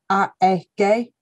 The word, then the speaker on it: AEG: recent tv advertising campaign we've gone right back to our german heritage so that they actually pronounce it they're doing a bit of a test at the moment so it's a gay um is the the